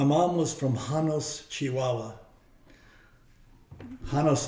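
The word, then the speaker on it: Janos: was from hanos Chihuahua hanos is spelled with a j j o n s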